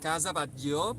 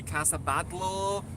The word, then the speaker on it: Batlló: it's Catalan. People might say Casa Batlló, Casa Batlló. Well, Casa Batlló, Casa means house, How so do it you was pronounce it? in Catalan Batlló.